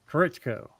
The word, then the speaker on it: Koritko: Just say it like you would say correct in an Arkansas accent, and it was Spanish. Correcto.